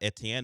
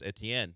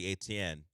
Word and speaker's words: Etienne: Now we now we know what Travis Etienne wants to be called. And I will no longer say ATN after this.